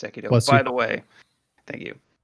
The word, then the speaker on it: Sekiro: But I got Sekiro, which is pronounced Sekido.